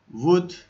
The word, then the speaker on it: would: Ve diğer örneğimiz would sell. When you pronounce this word, the L is silent. We don't pronounce it, okay?